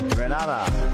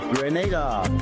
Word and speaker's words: Grenada: So today, like we Germans say, we are in Grenada. But I heard in English it's called Grenada. Say it right. Grenada. Say it right. Grenada. That's right. Grenada. There we go. Say it right. It's Grenada. It's not Grenada. It's Grenada.